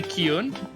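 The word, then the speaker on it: Kyuun: The real pronunciation is probably Kyun, because it's coming from Japanese, but we all pronounce it differently. I say Kyuni. I say like Queen, as if I'm like pronouncing her name with a W first, but regardless, Shawnee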